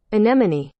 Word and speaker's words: anemone: got it back heyo all right let's listen anemone anemone slowed down anemone anemone anemone anemone I said n you may have mispronounced n yeah I know how to make